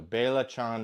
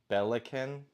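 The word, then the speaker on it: belacan: So, Bailachan is how you say it, dude. I wish I could voice memo you how to pronounce it. Bailachan. Okay. Bailachan. Okay. Okay. I thought it was something else that wasn't what I was trying to say. Bellicanin, which is obviously not right.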